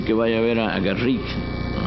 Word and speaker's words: Garrick: vaya a ver a garrick garry pero pronunciaban el Rick para que hubiera rima diciendo que era el